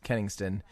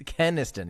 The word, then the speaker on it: Kenniston: tweet from brady ken kennington uh kenniston i don't i never know how to say his caniston yeah not kennington uh who is a